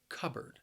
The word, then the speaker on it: cupboard: usually has shelves covered the word has two syllables and the stress is on that first syllable cupboard notice that the word is spelled with the P but when I say it it sounds a